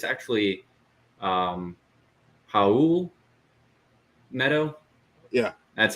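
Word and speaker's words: Raul Neto: then um i found out it's actually um haul meadow yeah that's how you pronounce his name not real it's how meadow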